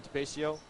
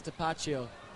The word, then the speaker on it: DePaccio: Marvin DePascio. Right, 3 I believe corner. the pronunciation is DePaccio. Ed Robb just said DePascio, so I think you better check that.